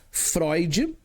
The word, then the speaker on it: Freud: Se escreve Freud, mas se lê Freud.